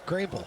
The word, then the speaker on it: Greenville: of North Car Carolina that you pronounce the name of the town correctly which you always do Greenville yeah that Greenville right Greenville what are we doing it's Greenville 62 5yd penalty second